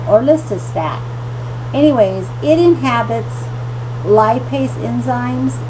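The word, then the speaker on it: Orlistat: with Weight Control was orist Statin I'm sorry I said that wrong orista stat I'm sorry that's how you say it orista stat anyways it inhabits lipase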